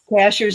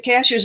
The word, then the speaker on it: Cashiers: Cashiers is spelled just like a cashier at the grocery store. And I still say cashiers. I And I know it's not. And I still But cash cashers is the way the natives say it.